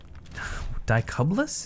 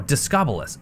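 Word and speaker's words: Discobolus: Dicublus? Is that what... Is that how I'm supposed to pronounce that? No, Discobulus. Discobulus wheel.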